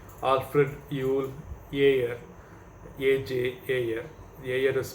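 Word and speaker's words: Ayer: is a british philosopher by name alfred yule year aj is spelled as a y e r and he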